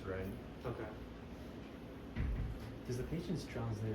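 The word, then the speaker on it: 忍: What's the, is it the same pronunciation in Chinese? In Chinese, it's ren.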